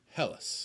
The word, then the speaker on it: Helles: helis helles elise hello it is technically pronounced hell and then us so hellas tell us this is how you pronounce it yes um i always say hells i just like to